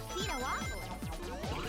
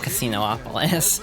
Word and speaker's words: Casinopolis: I don't like the pronunciation of Casinopolis. It looks like it should not have another O in it, but they pronounce it like there's two O's.